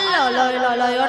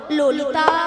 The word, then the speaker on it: ললিতা: মাসি ওটা লালাই লালাইও নয় আর ললয় ললয়ও নয়, তালে বলো ললিতা।